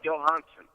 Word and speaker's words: Johansson: Johansson is my mother's maiden name. And it's spelled with J, but it sounds more like you're saying it with a Y. Right. Johansson.